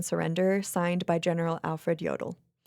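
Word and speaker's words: Jodl: signed by General Alfred Yodel. Yodel. It's like kind of a quintessential German name. I didn't know that that was anybody's last name. It's not spelled like Yoo. It's spelled J O D L.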